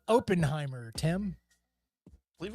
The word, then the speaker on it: Oppenheimer: He's the character from that movie called Oppenheimer, Tim. I believe it's pronounced Oppenheimer.